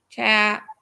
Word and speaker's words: Chaffee: Julie says long A in Chaffee. Chaffee. Long A. So it'll be Chaffee.